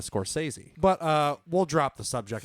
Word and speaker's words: Scorsese: explaining the Scorsese pronunciation the thing that trips me up is the fact that I always call him the score says so I want to go to Scorsese but we'll drop the